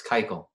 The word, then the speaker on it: Keuchel: Dallas Keuchel.